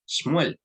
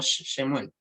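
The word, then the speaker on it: שמואל: Cuando la vean debajo de un sibilante, no suena vocal. ¿Ya? Por eso se pronuncia Shmuel y no Shemuel.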